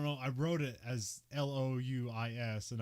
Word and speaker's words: Louis: I wrote it as Louis, and I don't know whether to say Louis or Lewis, but it's Lewis in the movie.